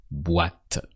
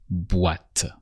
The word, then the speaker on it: boîte: The box in French is la boîte. With the OI that sounds wa, like in what in English. So here it's boîte.